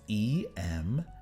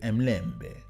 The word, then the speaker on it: Emlembe: Yes, but it's not how you pronounce it, and I forgot now. It's Emlembe. Oh man, I had it too. Is it Mlembe?